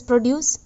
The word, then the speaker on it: produce: When to pronounce it as produce? Make or manufacture from components or raw materials. When it is a factory made thing, man made thing, it is pronounced as produce.